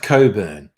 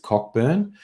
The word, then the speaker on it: Cockburn: this is suburban pickle now that's pronounced coburn Cockburn that's a it's a relatively common name I'm sure there are some people who pronounced it Cockburn but traditionally the names been pronounced Coburn oh okay it's your